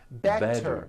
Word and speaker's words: better: Better becomes better. She's feeling better.